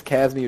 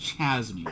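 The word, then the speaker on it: Chasme: I don't know if it's Casmi or Chazmi. I can look CASM sounds just sounds wrong. Yeah. Yeah, just Chazmi sounds better. I I I'm going to look this up. It's It's pronounced Chazmi.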